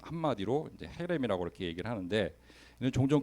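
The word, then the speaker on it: חרם: 이 점을 몇 개를 찍느냐에 따라서 이제 어 그 발음이 달라지는데 어 이거를 이제 헤렘이라고 읽어요.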